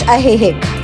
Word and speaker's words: Ajijic: And finally we reached Ajijic. The letter J is pronounced like H in Spanish.